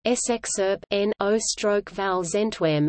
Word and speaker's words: Scherpenheuvel-Zichem: Scherpenheuvel-Zichem (Dutch pronunciation: SXERP-NO/VAL-ZENTWEM) is a city and municipality located in the